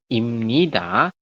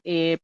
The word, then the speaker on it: 입니다: suatu kalimat bunyinya imnida, tulisannya ibnida ya. Tapi bacanya jangan ib. Masih ingat nggak kemarin di bagian tata aturan baca? Ingat ya? Masih. Ib tulisannya ibnida, tapi dibacanya adalah imnida. Kenapa, Sam? Karena biyab di akhir bertemu dengan nian di samping atau di tengahnya, maka biyab berubah bunyi menjadi M.